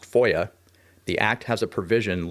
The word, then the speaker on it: FOIA: Typically referred to by its initials and pronounced FOIA, the Act has a provision legally requiring agencies to respond to FOIA requests within 20 days.